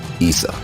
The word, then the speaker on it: Esau: Esau in the Afar language is pronounced Esau.